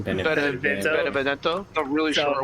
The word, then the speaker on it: Benevento: Benevita? Benevento.